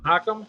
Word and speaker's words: Mahakam: that but they are beautiful they're the you mahakam is that how you pronounce that mahakam yep mahakam River wow and they are just